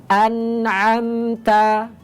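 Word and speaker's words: أنعمت: Contoh an'amta, an'amta, pengucapannya jelas.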